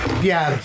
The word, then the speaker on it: Bière: Bière. It's f***ing French. It's bière. Beer. What the f***? Why are you rolling your tongue like you're Mexican? Bière.